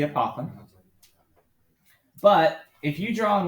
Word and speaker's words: apothem: dotted line called again i heard someone say a papa it sounds like you're saying it wrong that's the apothem but if you draw